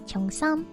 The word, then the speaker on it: cheongsam: So if you think about things like qipao, which is also known in the West as cheongsam because of the Cantonese pronunciation, these sorts of clothings are from, I believe, the Manchurian era, where Manchurian clothing got super fashionable.